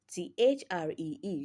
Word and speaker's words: three: It is not pronounced as th rather it is pronounced as your tongue in between your upper and lower front teeth front teeth.